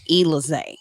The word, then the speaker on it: Elizé: Elizé, like Alizé. but with an E. Elizé.